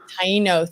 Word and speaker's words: Taino: By the way, this is our 17th show, and I'm so grateful that DeAnna Rivera, who's Taino, if I said that correctly. Taino. Thank you, Roy. Roy, you pronounced something correctly.